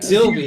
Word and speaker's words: Sylvie: yeah, Sylvie.